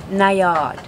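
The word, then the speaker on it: Najad: at 490 or as our Swedish crew member informs us it is pronounced nayard starting on the Ford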